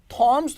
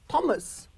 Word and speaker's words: Thomas: But here, the word Thomas, it consists of two syllable. Thomas. ये क्या है? Thoms तो नहीं कह रहे ना इसको. That is actually Thomas.